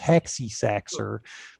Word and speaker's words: h46354x0r: with my user id it's the elite hacker spelling of hacky sacker h46354x0r it's pronounced hexy saxor but it's the it's